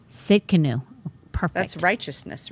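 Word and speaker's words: Tsidkenu: It's Sidkenu. What is it? The T is silent. Yes. It's Sidkenu. Sidkenu.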